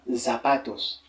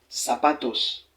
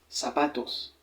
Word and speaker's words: zapatos: par exemple voyez ici la prononciation du Z c'est comme le S le S on dira pas zapatos mais on dira plutôt sapatos sapatos ouis là c'est c'est